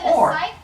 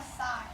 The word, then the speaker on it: scythe: Wait, is it a scythe or a scythe? You can also see it in my hand here. Oh. This is also a scythe. So, and you can pronounce it either way.